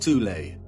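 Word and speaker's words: Thule: society within Germany called the th Society sometimes alternatively pronounced tulle that had subactions within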